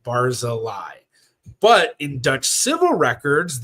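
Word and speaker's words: Barzilay: So in the sphartic records it was usually spelled B A R Z I L A Y. Barz a lie.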